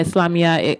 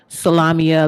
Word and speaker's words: Islamiyah: religion though but yeah islamiyah i i got butchered a lot in high school in middle school salamia lasagna girl you know and i'll